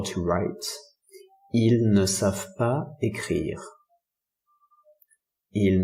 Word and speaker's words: ils: So bear in mind that the S is not pronounced. So for example, they don't know how to write. Ils ne savent pas écrire.